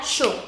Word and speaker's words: chaud: Y la D final no se pronuncia. Entonces sería chaud.